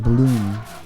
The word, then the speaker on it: Blum: And the French one, Leon Blum. And now we... Clear shot, Gordon. That was a nice echo. It's fucking 3 a.m. Maybe I'm funny again. Leon Bloom is pronounced as Leon Bloom.